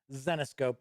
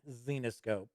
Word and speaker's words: Zenescope: kickstarter it is actually with the ceo of xenoscope entertainment and yes it is pronounced xenoscope not xenoscope so let's kick back and give it a